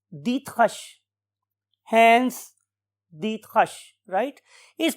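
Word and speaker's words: Driesch: के रेफरेंस से hence diet रिश right लेकिन जब हमने इसको जर्मन लैंग्वेज में प्रोनाउंस करना सीखा तो हमें पता चला कि his name is hence Dutt hush hence Dutt hush right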